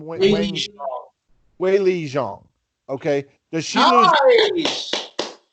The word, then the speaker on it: Weili Zhang: Weili Zhang.